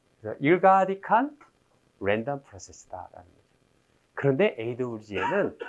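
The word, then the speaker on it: ergodic: 네, 대학 때는 에르고딕이라고 제가 들었어요, 발음을. 근데 나중에 봤더니 일가딕이라고 말하더라고요. 그래서 일가딕한 랜덤 프로세스다라는 거죠.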